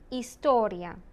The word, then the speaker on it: historia: H. Hola. Historia. Do not pronounce the H.